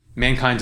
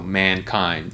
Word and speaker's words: mankind: can do that there mankind's an interesting one because this is one where it's a two-syllable word but both of those words are actually stressed that's why you put a little pause in between it so mankind you don't say mankind or mankind that would be weird so both of the syllables in that word get stressed so here's where you